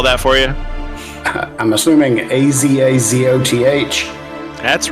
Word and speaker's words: Azathoth: You want me to spell that for you? I'm assuming Azazoth. That's right. Prophecy of Azathoth.